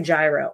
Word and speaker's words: gyro: She said it's kind of like a gyro or a hero or a hyro.